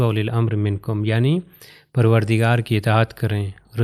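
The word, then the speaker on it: أولي: اولیل۔ آپ یہ دیکھیے واو کے اوپر ایک چھوٹا سرکل ہے، اگر میں اس کو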